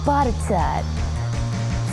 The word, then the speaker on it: Botetourt: There's Butterdur, which you say as Butterdur.